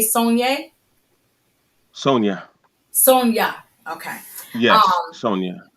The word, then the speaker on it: Saunders: How do you pronounce it? You say Sonia? Sonia.